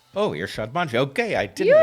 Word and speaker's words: Irshad Manji: Well, I mispronounced your name up front. Irshad Manji. Oh, right. You know what? I anglicize it because, it's now a habit. But you pronounced it beautifully from the get-go.